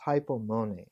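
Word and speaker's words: ὑπομονή: The Greek term for this is hypomone, Hypomone, and the accent is on the E, hypomone.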